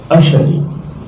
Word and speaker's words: अशनि: तो रक्षिता शनि, हम बोल तो शनि रहे, प्रोनाउंसिएशन शनि है, लेकिन वहां शब्द क्या है? अशनि।